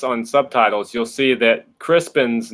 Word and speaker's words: Crispian: And they were like, but it's spelled Crispian. It's Crispin. Crispian. So I don't know if that was just a typo that Simon ran with or what, but it's pronounced as Crispin, even though it's spelled as Crispian.